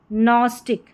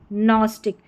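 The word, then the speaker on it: gnostic: नेट और यह है नस्टिक क्या है नस्टिक जी एन को पढ़ा न क्योंकि जी जो है वो साइलेंट है नंबर 14 पर है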